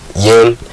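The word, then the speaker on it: Yeun: Stephen Young, I don't know how to pronounce Stephen it. Yin.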